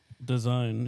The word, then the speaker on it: DAZN: design? It's just the promotion, like UFC. You know, promotion of MMA. DZN or whatever it is. Oh, I thought that was DAZN. Yeah. Yeah, DAZN. Design.